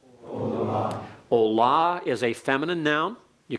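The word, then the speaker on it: עֹלָה: a full letter holum wow and it is pronounced Ola Ola is a feminine noun you can tell that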